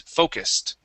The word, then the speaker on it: focused: close with focused okay remember that that USU is going to be pronounced as an is okay so it is focused Focus okay uh give me that Ed ending focused focused okay this is going to be a uh unvoiced s so instead of focused